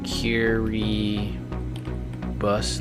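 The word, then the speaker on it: Kiribati: Kiri bus. Look how weird this is. This is pronounced Kiribus and there's an I to finish this.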